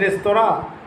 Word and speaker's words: restaurant: The Englishman may say restaurant, and with the Indians, the native speakers may call it restaurant, but no. The actual pronunciation is restaurant because it is a French word.